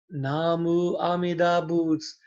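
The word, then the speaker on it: Namu Amida Butsu: Namu Amida Boots. There's 7 syllables, but the last syllable is silent.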